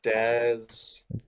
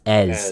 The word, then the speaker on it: Ez: So General's Daz. no, it's General Ez. It's pronounced Ez.